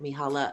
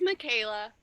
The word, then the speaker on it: Michaela: that safe space so mihalla um if you're here um uh show yourself and let me know please if i'm mispronouncing your name my my sincerest apology it's michaela no worries hello again